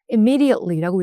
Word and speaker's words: immediately: 그래서 그럴 때 회사에서도 그냥 일 미루지 말고 즉시즉시 보고해 즉시즉시 처리할 때 immediately 강세는 여기다 둘게요. immediately라고 읽으시면 됩니다.